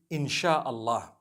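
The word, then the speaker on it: Insya Allah: They pronounce the S-Y the way we pronounce S-H. So they can write it how they want, for as long as when people read it, they read it INSHAALLAH.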